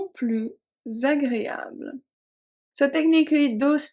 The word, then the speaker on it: plus: Okay, so we don't pronounce the S.